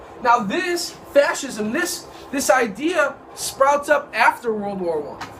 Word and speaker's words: fascism: Next word is fascism. Say it with me. Fascism. Say it with me. Fascism. One more time. Fascism. Okay. The C is silent, almost. It almost acts as an H.